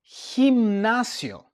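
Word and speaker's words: gimnasio: Next we take a look at the G and the I. And now we have he as in the word himnasio.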